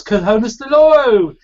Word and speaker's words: Conesdeloro: community and also the C in konus it's konus Doro hello hello then thank you for pronouncing my name correctly as many struggle I